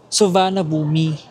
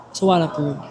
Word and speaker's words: Suvarnabhumi: silang Soanom international airport kung babasahin mo siya sa Pinoy ka ang ang pagkakabasa mo doon is suvannabumi ganun siya ganun siya pag hindi mo alam yung pronouncing talaga subana subana boomi ganun pero since gusto natin magsound local ang gagawin din natin ay sa wana so mamaya paglapag natin